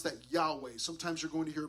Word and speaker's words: Yahweh: of God it's God's name Yahweh we would pronounce that Yahweh sometimes you're going to hear pronounce yve uh you might hear the name Jehovah okay okay that's with you know putting the